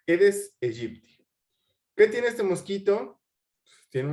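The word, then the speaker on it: Aedes aegypti: es el eres Egipto se escribe aedes a Egipto que se pronuncia eres Egipto qué tiene este mosquito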